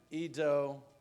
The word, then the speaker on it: Ido: And so please join me in welcoming Ido Aharoni to the podium.